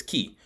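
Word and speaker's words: kiiy: want to know is k i i y pronounced as key k i i y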